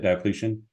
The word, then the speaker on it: Diocletian: Diocletian?